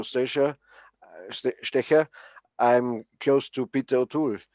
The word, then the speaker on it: Stecher: Stecher. Stecher. Okay. Yes, more like a sh, like a you know, Stecher, Stecher.